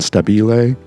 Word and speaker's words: Stabile: Also on board were Keyon Harrold, trumpeter, and Meghan Stabile, whose name you will hear me mispronounce at the live event.